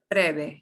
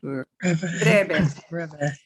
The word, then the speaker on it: breve: You are going to notice my V's don't sound like V. Breve. Breve. Your lips kind of come to, when you see a V, pronounce it like a B. Breve. B and V in Spanish do sound alike.